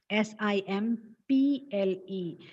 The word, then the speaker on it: simple: The letter P stands for the sound, consonant sound P. So the pronunciation should be simple. But people tend to pronounce it as symbol. Oh, അത് വളരെ simple ആയിരുന്നു എന്നല്ലേ നമ്മൾ എപ്പോഴും പറയാ. And symbol, B sound comes. That is wrong.